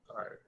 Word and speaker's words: tired: Tired. Tired is one syllable. Tired. Tired. Yes. It's a little weird for us.